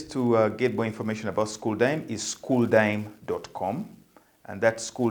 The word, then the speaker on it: Xuldime: d i d-i-m-e uh and that is school then the school xul is um that's how the kids these days uh call school as their lingo and the dime